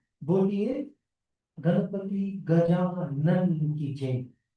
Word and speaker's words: Gajanan: So let's be careful about our pronunciation. Right? When Acharya Ji also says, Boliye Ganapati Gajanan ki jai. It's Gajanan, not Gajanand.